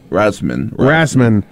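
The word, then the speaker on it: Rasmussen: Rasum? Yeah, Rasman.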